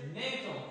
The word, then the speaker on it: Newton: Okunuşu da Newton'dur arkadaşlar. Birimiyle ifade edilir. Newton kısaca N harfiyle gösterilir.